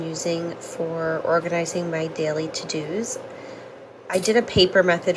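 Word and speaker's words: Teux Deux: The app is called To Do, and it's spelled like this. Teux, Deux.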